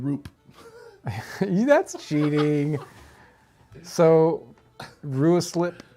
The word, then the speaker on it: Ruislip: I'm sticking with Ruislip. Okay, here we Let's- I go. feel good Here we about go. It's Roslip. Roslip. Roslip. Roslip. I don't see any A's there, guys.